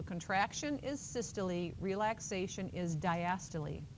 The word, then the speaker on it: diastole: So contraction is systole, relaxation is diastole. It's not systole and diastole. That's what it looks like, right, if you sound it out phonetically, but it's systole and diastole.